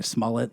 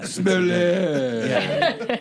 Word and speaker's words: Smollett: Of all the pronunciations of it, I like your version better. Smollett, like mullet. You know what I mean? Like, yeah. Smollett.